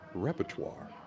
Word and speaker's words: repertoire: And it's pronounced repertoire.